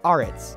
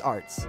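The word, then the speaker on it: Aretz: Once you read his last name, Arts, it looks like it will be pronounced something like Arts, but that's not how it's actually pronounced. You simply need to pronounce it as Arts.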